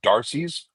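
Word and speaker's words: D'Arcy's: in Bradley Beach called Darcy's. I I that's how they say it. It's D apostrophe A R C Ys.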